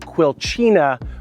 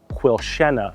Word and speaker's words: Quilchena: The non-locals will pronounce it Quilchena, but today we visit beautiful Quilchena, Vancouver.